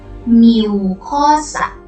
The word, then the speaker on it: mucosa: Everybody say mucosa. It is spelled as M-U-C-O-S-A.